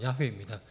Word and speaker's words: 야훼: 여기서 여호와라는 것은 야훼입니다. 정확한 발음은 야훼입니다.